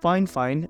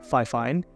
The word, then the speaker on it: FiFine: hell yeah that's right it's actually pronounced fine fine and not F fine and I know I'm